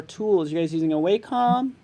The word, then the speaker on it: Wacom: the way, it's pronounced Wacom.